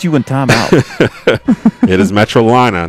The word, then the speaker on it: Metrolina: into the second quarter yes it's metrolina we understand we i understand there's a lot of metrolina fans out there upset that uh i was pronouncing that wrong earlier in the game this how dare you